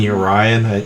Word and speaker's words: Yorion: the way uh i i've seen yorion most commonly i've seen you ryan i typically go with yorion i don't know just